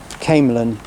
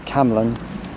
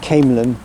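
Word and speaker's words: Camelon: Yeah, so a little pronunciation correction I also want to make. Camelin is how you say it, not Camlin. Camelin, in between Stirling and Falkirk Grahamston on the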